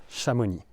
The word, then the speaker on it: Chamonix: But for cities it's always a Shamuni.